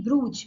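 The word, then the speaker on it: brooch: पहले जो वर्ड था उसकी स्पेलिंग थी ब्रूच बी are double O सी एच and this is ब्रोच ब्रोच मतलब होता है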